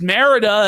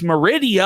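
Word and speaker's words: Mérida: But I guess not because J was embarrassed that he pronounced Merida as Meridia.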